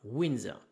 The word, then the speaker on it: Windsor: d S o r mais ça va se prononcer comme si ça s'écrivait e ur r à la fin winser donc ben nous explique que cette maison est